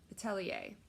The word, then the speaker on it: atelier: it right there ladies i was corrected by two of my viewers thankfully gave me the correct pronunciation for that so i think it was uh atele atelier atelier hopefully i got that right this time please let